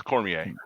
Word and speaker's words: Cormier: knew you were going to say that it's Cormier I I want to see how you pronounce it I'm not familiar really Cormier is